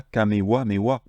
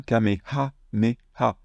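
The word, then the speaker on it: かめはめ波: Et le nom de l'attaque, c'est pas kamewa me wa. C'est bien kameha me ha. Au passage, c'est pas kameha me ha, c'est kameha me ha. Donc voilà, avec des H soufflés.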